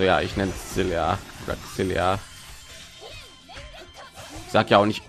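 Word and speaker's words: Xillia: Xilia.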